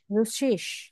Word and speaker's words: Russisch: রুশ, রুশল্যান্ড, রুশল্যান্ড, রুজিস, রুসিস, এটা double S আছে, ডাবল স্প্যানিয়ান এস এর মতো উচ্চারণ হবে।